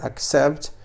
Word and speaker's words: accept: فهنا سي تنطق على الشكل كاي. إن شاء الله ربما في درس مقبل سأقوم بشرح الوقت الذي نقوم فيه بنطق سي على الشكل كاي. نقول accept.